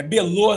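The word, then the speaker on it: Belotte: Eh, o nome se escreve Belote, né? Mas aí é Belô.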